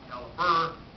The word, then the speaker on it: calibre: Spelled calibre, pronounced caliber.